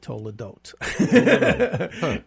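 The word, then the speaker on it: תולדות: word for Generation 40 years is Toledo they pronounce it Tola Dot and then of course Jesus has 40 days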